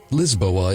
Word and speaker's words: Lisboa: The authorities assumed he meant Lisbon, which is pronounced Lisboa in Portuguese, but he claimed to not know Portuguese at all.